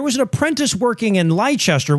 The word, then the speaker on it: Leicester: an apprentice working in Leicester, which is pronounced Leicester, but fuck you. If you want me to spell it like, say it like that, spell it like that. Anyway, a couple of decades